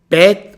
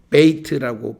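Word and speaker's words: בית: 자, 그 다음에 이제 두 번째 자음이 bet 혹은 bait입니다. bet 이렇게 발음하기도 하고 bait라고 발음하기도 합니다.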